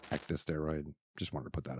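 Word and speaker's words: ecdysteroid: the market oh and I say say aceta steroid it's actually pronounced ecta steroid just wanted to put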